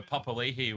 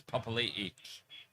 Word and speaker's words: Papali'i: I mean, I remember Papali'i was Papali for about 6 years, and then suddenly he was Papali'i.